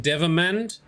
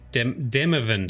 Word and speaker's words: Demavend: King Demavend. Sorry, Demavend. I always get the syllables around the wrong way.